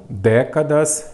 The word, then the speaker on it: décadas: separa em sílaba então décadas ela é uma palavra paroxítona não décadas é o que é proparoxítona porque a sílaba forte é a antepenúltima então acentuamos todas as